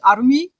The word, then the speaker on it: Armin: So they are, to no one's great surprise, they are Aaron, Mikasa, Armin, except I use the Japanese pronunciation of Armin, so she's Arumi, Oh, oh.